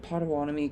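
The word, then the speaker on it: Pottawatomie: Yes, I said it right. Podawani County in central Oklahoma until 12:45 a.m.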